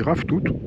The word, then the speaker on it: ravitoto: Ça s'écrit ravitoto, mais ça se dit ravitoot.